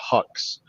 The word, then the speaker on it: Huxe: And then the other app that I want to encourage you guys to check out is an app called Hux. It's spelled Huxe.